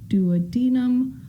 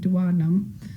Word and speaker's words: duodenum: the small intestine is called the duodenum or the duodenum. I've heard it pronounced both ways. I pronounce it duodenum, but it empties into the duodenum.